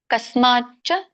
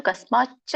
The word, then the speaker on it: ಕಸ್ಮಾಚ್ಚ: ಕಸ್ಮಾಚ್ಚ ತೇ ನಮೇರನ್ ಮಹಾತ್ಮನ್. ಕಸ್ಮಾ ಸಕೆ ಮಾವತ್ತು ಚವತ್ತು ಕಸ್ಮಾಚ್ಚ ತೇ ಒತ್ತಿ ಹೇಳ್ಬೇಕು.